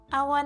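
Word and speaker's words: を: Our next character looks a bit like what would happen if chi and to had a baby. It makes the exact sound as o but when Japanese people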